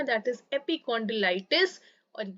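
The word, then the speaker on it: epicondylitis: इसका जो प्रोनाउंसिएशन है दैट इज एपिकॉन्डिलाइटिस और ये होता है आपके टेनिस एल्बो को ही जाना जाता है लेटरल एपिकॉन्डिलाइटिस के नाम पे।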